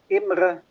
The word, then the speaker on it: Imre: My name, you pronounce it like Imre. Imra. Imre. Imra. It's an Hungarian name.